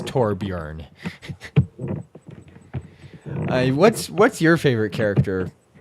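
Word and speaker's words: Torbjörn: with actual swedish people the proper pronunciation of it is torbjorn the o with the umlauts is kind of a e sound kind of a sound so it's torbjorn what's what's your favorite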